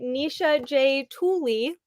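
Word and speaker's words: Nisha J. Tuli: We will be discussing Trial of the Sun Queen by Nisha J. Tooley, which I found out I was pronouncing it correctly, which that never yay.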